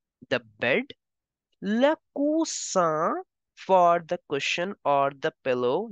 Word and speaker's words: four: in French as Laur don't pronounce it like English it is not four in French you pronounce it as for Laur for the oven